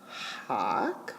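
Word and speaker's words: hāc: and then a c hawk with a long a so that long a is important and so is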